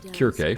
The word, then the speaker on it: Circe: That glowing unit is Circe, or the Greeks would have pronounced it more like Kirke from the Odyssey.